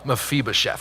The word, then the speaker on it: Mephibosheth: That's what we're going to have a pronunciation guide up on the screens with the little ball, Mephibosheth.